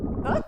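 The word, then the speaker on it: butte: I point out that this word is pronounced but and it's probably quite an appropriate pronunciation because are often beautiful.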